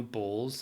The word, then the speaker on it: Bols: You know Bowls, that liqueur shite. BOLS. It's spelled.